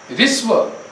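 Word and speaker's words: ह्रस्व: चलिए, उच्चारण के आधार पर एक पहला होता है ऋस्व स्वर। उच्चारण करो इसका, हाँ कीजिए। ऋस्व, हस्व नहीं, ऋस्व, ह के अंदर री है, ऋस्व स्वर।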